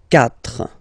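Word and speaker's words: quatre: 4. Okay, so remember that even if you get this U vowel here, basically you don't pronounce it, because that's the rule in French.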